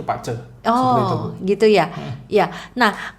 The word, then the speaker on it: BaZi: itu taunya bazi acara tulisannya bazi cuman kita bacanya itu Pacet Oh gitu ya ya